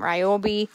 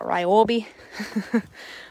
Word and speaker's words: Ryobi: We've got DeWalt brand on here, some Ryobi, some more. Why did I say it like that? Ryobi.